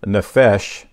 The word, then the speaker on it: nephesh: I first found Hebrews, the Hebrew number 5315, and it's nephesh, N-E-P-H-E-S-H, and it means properly breathing.